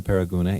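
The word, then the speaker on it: Paragonah: Although the modern-day spelling has dropped one of the two O's, Paraguna is still pronounced by locals with the double O's.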